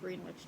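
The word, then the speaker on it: Greenwich: I think that time zone is actually called Green Witch time zone. That's how you say it.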